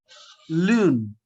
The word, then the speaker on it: lune: There is E at the end. So the So previous E will not be pronounced and N will be pronounced. exactly. So how to pronounce that? Learn. Lune.